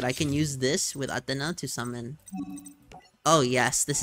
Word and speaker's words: Athena: miraculous descent and bring back atena I know it's Athena but I like I like how they pronounce it in the Japanese cooler to me and